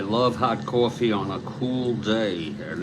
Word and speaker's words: Kuhl: off to face and I had a cool picture absolutely is it pronounced cool okay here's schwind Del demos is